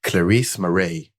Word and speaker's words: Clarize Marais: i'm really excited to have here with me clarisse moray you see i pronounce it right uh performance marketing lead at